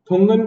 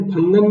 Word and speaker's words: Thungon: अगली है थुंगन कमेटी। इसे थंगन भी बोलते हैं और थुंगन भी बोलते हैं, जो भी आपको ठीक लगे, स्पेलिंग याद रखिएगा, THUNGON, थुंगन कमेटी।